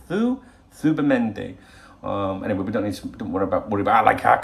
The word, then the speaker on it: Zubimendi: It's quite interesting hearing, even people like Romano pronouncing it Zubimendi, and maybe we should as English people. But in the cafe I go to, every Spanish person said, and the fellas are all saying Zubimendi.